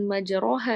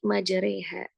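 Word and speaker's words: مجريها: Nah, ini agar jangan sampai salah nih bacanya bukan majaroha ya tapi majareha.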